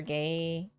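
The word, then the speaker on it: Gaeilge: In Ireland, we say either Irish or Gaelga.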